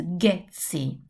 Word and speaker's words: Ghezzi: The pronunciation is Ghezzi. So which sound are we going to look for? The sound is G, hard sound.